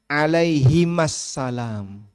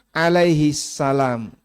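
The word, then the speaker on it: عليهما السلام: suhuf Ibrahim dan Musa harusnya alaihimassalam Hm tapi kan orang bacanya Alaihissalam kalau satu tunggal itu Alaihi satu ya kalau dua alaihima Nah dia pakai Alaihi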